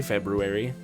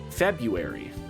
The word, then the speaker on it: February: Why don't we say February? What is the point of that first R? February.